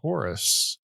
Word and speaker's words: Horus: The Egyptian Horus is equivalent to the Greek who? It's pronounced Horus.